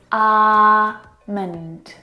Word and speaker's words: almond: Now, in this word, the L is silent. It's not almond or almond, it's almond.